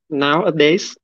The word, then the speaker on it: nowadays: Nowadays? No. Yeah. Nowadays. Nowadays. Okay. Người Việt mình hay drop cái S. Họ bỏ luôn cái S, cái âm ở sau.